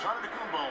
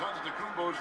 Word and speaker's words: Antetokounmpo: Now there's Antetokounmpo making his last shot.